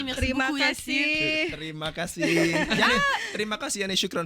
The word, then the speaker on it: terima kasih: Terima kasih. يعني terima kasih يعني شكرا في اللغة الإندونيسية. تريما Terima كاسي. kasih. Perfect. T'as bien prononcé. تريما كاسي.